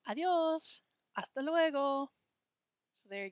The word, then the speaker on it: adiós: Notice how I say that with 2 syllables and not 3. It's not adios, it's adiós.